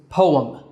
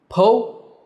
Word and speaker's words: poem: do you say it the correct pronunciation is poem po um poem now some people say po but that's not a standard pronunciation the correct way to say it is poem now poems in general